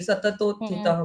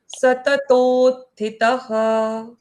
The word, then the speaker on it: सततोत्थितः: यहाँ आपको गड़बड़ क्यों लगी सततोत्थितः में? क्योंकि त और थ दोनों के उच्चारण समान लगते हाँ हैं लेकिन डिफरेंट करेक्ट। है। लगते हैं सेम लेकिन वो डिफरेंट है एक्चुअली।